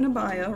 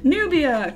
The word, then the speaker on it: Nubia: first book come out, Nabaya, right? And it's her backstory, and it's her as a teen going through stuff. Nubia? Okay. See, I've been saying it wrong all day. Nubia, cool.